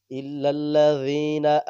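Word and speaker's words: الذين: ইনসানা ইনসানা লাফি ইল্লাজিনা আমানু ইল্লাজিনাটা নরম করে উচ্চারণ করতে হবে ইল্লাজিনা আমানু আমি আইন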